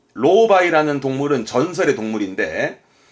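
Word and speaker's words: 狼狽: 발음은 로바이.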